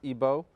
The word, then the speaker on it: Igbo: comes from Nigeria from the Igbo tribe otherwise pronounced ebo and Remy's a scholar